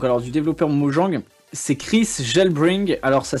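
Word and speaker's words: KrisJelbring: c'est Chris Gelbring. Alors ça s'écrit comme ça, K-R-I-S-J-E-L-B-R-I-N-G.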